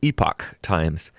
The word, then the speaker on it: Epoch Times: scare him the real news is on the epic times some of you pronounce it epoch times the epic times says usps as postal service